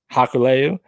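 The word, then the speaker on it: Hikuleo: and matt can you help me with the pronunciation of haku's son's name uh haikuleo hakuleyu that's right they defeated finju's moose and morsi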